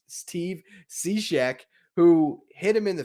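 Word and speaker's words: Cishek: right before lendore steps in he's facing steve she's steve seashek who hit him in the face was laughing at my mispronunciation there not at the circumstances want to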